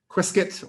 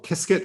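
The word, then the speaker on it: Qiskit: like ibm uh their theirs is called quizkit or kisket i don't know i suppose this is to rhyme with biscuit i don't know they've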